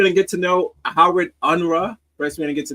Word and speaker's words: Unruh: First, we're gonna get to know Howard Unruh. First, we're gonna get to know how to say his name, and then we're gonna do. Hold up. Got it. Shut up. Unruh. Unruh. It's almost Japanese.